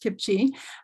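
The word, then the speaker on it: CPCHE: So Kipchi, the Canadian Partnership for Children's Health and Environment, pronounced Kipchi, is a national collaboration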